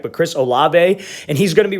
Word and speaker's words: Olave: this is chris um it's not olave i think that's how you say his last name i was getting ripped